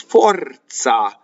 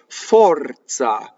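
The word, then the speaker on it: forza: Now, in Italian, Z makes a TZ like Mozart, or in pizza. It also makes a DZ, and it is another non-phonetic thing in Italian. In this case, it's fɔrza, za, right?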